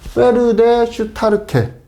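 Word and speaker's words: Pferdestärke: PS는 요건 독일어식 발음입니다. 그래서 PS인데 페르데 슈타르케 이렇게 읽으면 될 것 같습니다. 그래서 HP는 영마력이 되겠고, 영국마력이라는 소리입니다.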